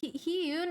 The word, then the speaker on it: Hyoon: Thank you for No, he says my name right. It's heun is my actual real name. So he pronounced my name right. That that's actually really good. Like my my what I go by Hun is but he nailed my actual watching my videos